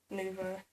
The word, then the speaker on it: nouveau: What's the correct pronunciation? Nouveau.